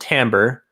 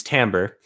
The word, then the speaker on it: Timbre: But since she bonded a Reacher Spren, which is the Spren of the Will Shapers, the Spren is called Timbre, not Timbre. Know how to pronounce words. So it's Timbre.